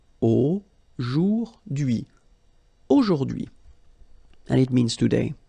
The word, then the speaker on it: aujourd'hui: H is not pronounced, so you only get this d'hui thing. Aujourd'hui.